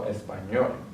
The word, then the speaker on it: español: the next one español into the consonant so we're going to add the stress on the last level español next one ends with